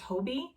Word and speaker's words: Hobbii: i'm saying that correctly i know it's like this big debate it's a hobie it's a hobby i've watched the youtube videos to to try to figure out if it how to pronounce it and from what i've seen from their youtube channel it's hobie um of course i'm